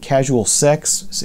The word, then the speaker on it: CSLSX: This is Lush Life and Casual Sex. It's spelled CSLSX, and with their album Ritualize.